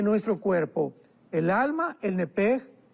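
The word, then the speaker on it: נפש: En el hebreo se pronuncia la SH con J, entonces la pronunciación hebrea es nepej.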